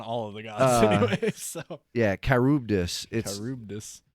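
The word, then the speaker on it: Charybdis: or uh karubdis i looked up how it's pronounced okay i believe you on all of the guys yeah kyrubdis it's it's weird like is this guy new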